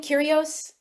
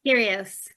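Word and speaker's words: Kyrgios: Nick Cur Cur, how do you pronounce his last name? Curios. Curios.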